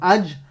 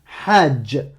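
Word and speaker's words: حج: Si tu me prononces que la voyelle, si tu me dis A comme Hajj, Alouf, Aram, Halal, Hakim, là c'est pas bon.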